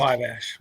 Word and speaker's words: Fiveash: Is it Fiveash? Is that how it's pronounced? Fiveash.